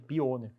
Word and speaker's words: Pioneer: exemplo tem uma a Copa Pioneer né que é assim que se pronuncia tá gente pioner eh ganha 150.000 campeão